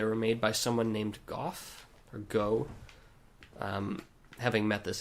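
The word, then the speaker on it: Gough: made by someone named Goff, or Go. Having met this NPC in previous playthroughs and watching videos, I know that it is pronounced Goff, which indicates that Smo would actually be pronounced Smoff if things were consistent.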